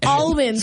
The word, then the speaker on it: almonds: Almonds, like you pronounce the L.